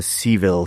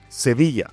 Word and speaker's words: Sevilla: It's based on uh, Seville, Spain. Wait. Okay. Every time I'm going to say it right, like not just to be a dick, but Sevilla.